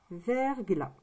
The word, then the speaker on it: verglas: Et il y a un S. Le S, on ne l'entend pas. D'accord? Et il s'écrit toujours comme ceci. Verglas.